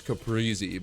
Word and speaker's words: caprese: I I think the American way to say it is Caprii, but I think the Italian way to say it is like caprese.